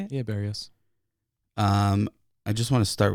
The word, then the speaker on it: Berrios: Yeah, Berrios.